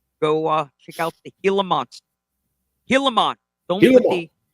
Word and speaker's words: Gilamon: so much attention on get the pronunciation right it's the heon no step on heon